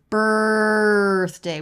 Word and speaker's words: birthday: in mind the word birthday we have first syllable stress and it's all R it's the r vowel consonant combination so it's not B it's nothing like that it's straight to R BR so make sure